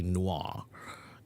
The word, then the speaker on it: noir: only here on Wednesday and Friday how to pronounce the word Noah Noah is a French word n o i r is actually Noah and it's a French word actually film Noir